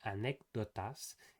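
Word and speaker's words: anécdotas: In Spanish, it's not like this. It's actually more dental.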